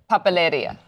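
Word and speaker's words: papelería: Papeleria.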